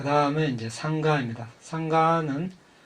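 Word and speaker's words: saṅgha: 상가는 우리나라 말로 승가라고 하죠. 상가, 원래 빨리 발음은 상가입니다.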